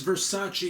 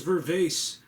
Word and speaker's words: Versace: I just learned how to pronounce Versace yesterday, and I thought it was Vervace.